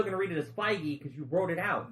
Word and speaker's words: Feige: I've actually only read it, so I thought it was like Feige. No, it's Feige.